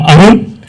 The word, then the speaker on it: Arun: As Indu rightly pronounced, I'm Arun.